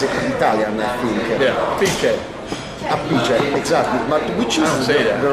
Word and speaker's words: Appice: Piece of cake, a piece of crap. Yeah. So I didn't want to say a piece, so I stayed with Appice.